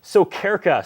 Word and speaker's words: Sokyrka: But we wrap up with Theresa Sokyrka.